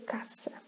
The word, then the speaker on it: caça: Se fosse outro S, que pode acontecer, é caça. Nem sei se existe em português, mas enfim, já seria um C de cedilha.